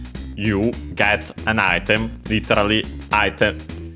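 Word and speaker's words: アイテム: because then we have item ghetto of course item get from uh English we check their accents But they should be on. Yes. Item uh on the a on the first syllable ghetto should also be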